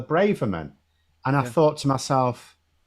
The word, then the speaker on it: Braverman: a funny one CU I used to say sweller Braven right and then I was getting the impression a lot of people oh it's often pronounced bra bra so I ended up saying braan and then I heard um when an actual Tory MP referred to her as sweller Braverman and I thought to